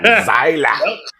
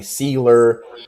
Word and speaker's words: Seiler: Seiler. Always in a German or Austrian accent. Well, all my life when I was a kid, like everyone said it wrong. They called me Seiler, Silo, Sailor.